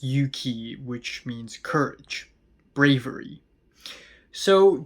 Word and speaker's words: 勇気: on the new betcover album, Yuki, or in Japanese it's Yuki, which means courage, bravery.